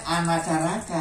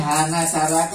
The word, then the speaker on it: hanacaraka: tapi tulisannya apa ha ha hanacaraka itu sebetulnya bacanya anacaraka I kalau orang-orang sekarang nyebutnya hanacaka itu keliru sebetulnya kita harus bacanya anacaraka karena ha itu bacanya